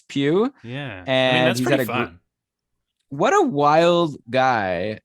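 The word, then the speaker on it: Pius: you can pronounce it pew suitor yeah i was saying pious forever which is more fun but it's pew yeah what a wild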